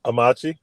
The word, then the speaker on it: Amachi: if I'm not saying it right, is the Amachi program. Amachi, Yeah.